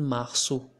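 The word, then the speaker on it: março: we we know that we have to change the pronunciation of it to mahsu not here with no tail and masu with a tail also when the letter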